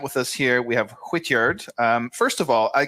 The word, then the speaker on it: Hwitgeard: We have Whityard. Um first of all, I guess I should ask first, how do you pronounce it? Is it Hityard?